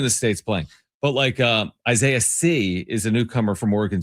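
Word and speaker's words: Sy: Now he's been in the States playing, but Isaiah C is a newcomer from Oregon State. His last name is S-Y, but it's pronounced C.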